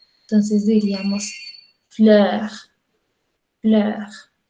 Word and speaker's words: fleur: Es como decir lo mismo, la E y la O, pero con la mandíbula un poco más abajo y la lengua un poco más hacia adelante. Entonces diríamos fleur, fleur, Götze, Götze.